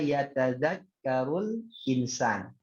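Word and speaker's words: يتذكر الإنسان: Nah, kalau dia di tengah langsung bacanya yatadzakkarul. Alif lamnya tidak berfungsi. Sebenarnya di situ ada hamzah wasal di alifnya itu, ya. Hamzah wasal. Makanya langsung yatadzakkarul insan. Itu nggak boleh bacanya yatadzakkaru al insan, enggak. Yatadzakkarul langsung. Itu kalau di di tengah.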